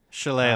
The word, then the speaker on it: Shillelagh: And Brad, I want to pronounce this the right way. Shillelagh, is that how it's pronounced? Shillelagh.